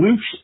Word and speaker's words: Lutz: the residence in Tampa Sun Coast there in Loots.